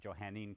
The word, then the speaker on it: Johannine: And we're going to call that Johannine Christianity, or some people might pronounce it Johannine Christianity. It's the same thing.